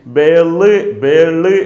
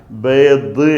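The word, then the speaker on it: بيض: ഹാദാ ബേദ് എന്നാൽ കോഴിമുട്ട എന്നാണ്. അതിൻ്റെ പ്രൊണൗൺസിയേഷൻ ബേള് എന്നുമല്ല. ചില ആളുകൾ പറയാറുണ്ട് മലയാളത്തിൽ വിവർത്തനം കാണുമ്പോൾ ബേള്, തെറ്റാണത്. ബേള് എന്നും പറയൂല, ബേദ് എന്നാണ് പറയുക.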